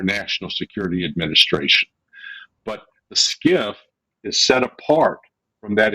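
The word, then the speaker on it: SCIF: a skip yeah so skiff stands for sensitive compartmented information facility spelled s-c-i-f but pronounced like s-k-i-f-f and when you go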